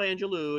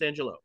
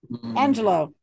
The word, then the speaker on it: Angelou: She's from the Lou, it's not Angelou, it's Angelou. Oh, I looked it up. Ask Susan how to pronounce it. Angelou.